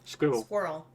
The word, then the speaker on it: squirrel: would say semi-finals yeah squirrel one one syllable more or less but it's one syllable and I don't understand that one either there are definitely two syllables I pointed out once it sounds like you've got a mouthful of nuts much like a squirrel